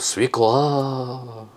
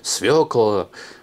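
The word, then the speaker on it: свёкла: А Наталья Нижегородцева пишет, свекла, ударение на ее, свекла, на ее, свекла, свекла. Людмила пишет, столько земли, и кабачки со свекой вырастить не могут.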